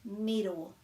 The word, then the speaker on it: miro: got korfai rata and miro miro and there's no macrons so that's quite short middle hopefully that helps